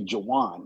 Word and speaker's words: Jarwin: pronunciate my name correctly, it's always Jarwin. No, it's Jarwin. The R is not silent, you know, but it pronounced it correctly.